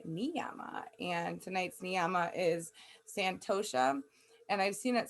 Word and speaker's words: santosha: it's in the pronunciation it said to pronounce the h so santosha it means contentment acceptance